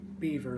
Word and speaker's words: Beaver: I pronounce mine Beaver, like the animal, yeah.